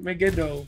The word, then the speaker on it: Megiddo: Meo mag magu meu megiddo mego that's the word that's the one I figured it out